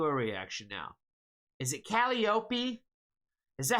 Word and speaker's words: Calliope: Pronunciation. Calliope.